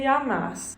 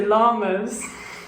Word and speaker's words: llamas: pronunciation corrected things like a double l is a year sound like como te llamas not comedy llamas like little greetings hasta